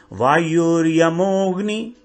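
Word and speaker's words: वायुर्यमोऽग्नि: वायुर यमो अग्नि, वायुर यमोग्नि। यहां पर अ जो है साइलेंट है, तो ओ के बाद जो अ है इसको स्पष्ट नहीं बोलेंगे, उसके साथ ही आ जाएगा। जैसे वायुर यमोग्नि, फिर अग्नि के बाद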